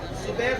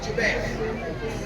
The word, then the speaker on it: جبیر: پر 50 صحابہ کو عبداللہ ابن زبیر نہیں بلکہ جبیر، تھوڑا سا آج کل